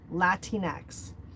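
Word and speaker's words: Latinx: Next is Latin X, pronounced Latin X, is a non-gender specific way of referring to people in Latin American descent.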